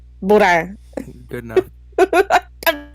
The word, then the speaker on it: boudin: You gotta go full Cajun in that last syllable. Boudin. Boudin.